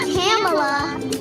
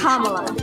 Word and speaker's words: Kamala: It's not Kamala. It's Kamala. Kamala Harris. Kamala. The senator says that she's got used to people. Let's set it the rest. It's Kamala. Got it? Kamala.